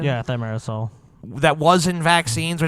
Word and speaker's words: thimerosal: But we know that the amount of thimerosal, is that the proper pronunciation? Yeah, thimerosal.